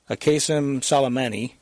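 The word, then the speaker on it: Qasem Soleimani: International Airport, killed Iranian Quds Force leader General qasem-soleimani, I got to pronounce his name right, qasem-soleimani, and senior PMU commander Abu Mahdi al-muhandis.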